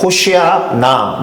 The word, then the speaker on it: 호시아나: 정확한 발음은 그래서 히브리 사람들의 발음으로는 호시아나입니다. 호시아나. 여기서 호시아는 예수와 또는 여호수아와 같은 어근을 갖고 있는 구원이라는 뜻입니다. 호시아. 그리고 거기에 나가 붙었다라고 했잖아요. 호시아 나.